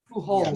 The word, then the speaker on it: Pujols: Wait, And I I just don't want to go think back to Albert Pujols. Am I pronouncing that right? Pujols.